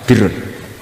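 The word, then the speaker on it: بِرّ: Ya kalau di isim fa'ilnya umumnya guru-guru kita baca barin, tapi untuk masdarnya, untuk kebaikan bacanya apa? Birun. Nanti kamu protes, oh barun itu daratan Gus, kalau birun itu kebaikan. Aku itu macaku kamus luwes suwi, bocah kok sembrono.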